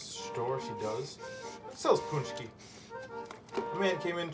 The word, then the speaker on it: Pączki: Now, a lot of people wonder why it's spelled the way it is versus the way it's pronounced. And that is because Pączki, it's P-A-C-Z-K-I, right? There's no N, there's no O's or U's. In fact, Pączki is really an Americanized way of pronouncing it.